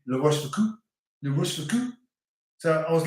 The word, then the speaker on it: La Rochefoucauld: It's C-A-U-L-D, not T. Take that back. Right again. Just the O sound, not the W.